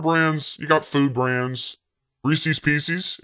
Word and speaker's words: Reese's: Reese's Pieces. Everybody pronounces it Reese's Pieces. They pronounce it Reese's.